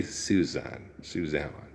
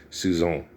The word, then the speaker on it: Suzanne: You don't say Suzanne. No, that's English. Okay, it's Suzanne.